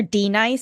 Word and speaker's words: Denise: We call her D-Nice because that's how her name is spelled.